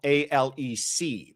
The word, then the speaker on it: Alex: the person would spell A-L-E-C. But I think to his friends and people who know him, he introduces himself as Alec, even though it is spelled as Alex.